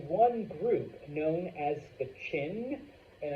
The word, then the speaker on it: Qin: Over time, though, there is one group known as the Qin, and I know it's with a Q, but it's pronounced Chin.